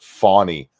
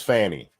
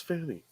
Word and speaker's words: Fani: before the show so many went people are pronouncing it fonny it was never funny until today for some